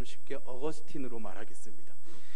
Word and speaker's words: 어거스틴: 팀 발음으로는 아우구스티노 쓰고 이것을 영어로 발음하면 이제 어거스틴이 됩니다 오늘은 제가 바로 마이가 좀 쉽게 어거스틴 으로 말하겠습니다 예 2